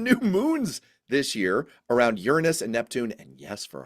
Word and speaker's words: Uranus: moons we found new moons this year around Uranus and Neptune and yes for our younger listeners that is the correct pronunciation of the planet Uranus we found three